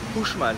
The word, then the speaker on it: Uxmal: Donc ça s'écrit Uxmal, mais ça se prononce Uxmal ici au Mexique pour 76 pesos, ce qui fait un peu moins de 4 euros.